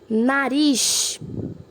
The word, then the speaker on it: nariz: Nariz. Ris é a última sílaba, então é a mais forte, então ela é uma oxítona.